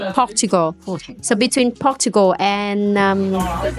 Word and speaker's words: Portugal: it thanks to him I used to pronounce pugal but thanks to Aon now I know how to pronounce correctly Portugal so between Portugal and